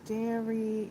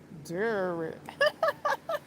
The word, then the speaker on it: Derry: This is and I just saw another post about welcome to dairy and excuse me, welcome to Dury. Dur.